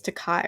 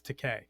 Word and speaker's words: Takei: I've heard it, it's George Takei. Takei. Okay. It, For some reason I thought it was Takai or something like now that.